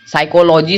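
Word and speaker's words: psychology: वाई सी एच ओ एल ओ जी वाई साइकोलॉजी साइकोलॉजी मतलब होता है मनोविज्ञान एंड देखिए यहां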